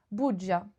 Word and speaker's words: bugia: Bugia. Crossed Non, fingers. ça se prononce bugia.